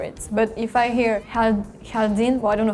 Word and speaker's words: jardin: In France, we say jardin. In Spanish, we say jardín. There is a The pronunciation is so different, so we don't hear the similarity.